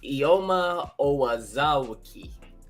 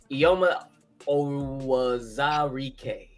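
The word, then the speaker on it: Eyioma Uwazurike: It's pronounced Ioma Owazarike. Zarike. Oh, Ioma Owazarike.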